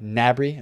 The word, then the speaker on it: Gnabry: Bri or open Meccano I said Mabrey incorrectly by the way Gnabry alright I know how